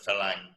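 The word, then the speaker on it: ฝรั่ง: And I will tell you that here in Thailand, for Phalang, which is F-A-R-A-N-G, Phalang is pronounced Phalang. The Thais pronounce it Phalang.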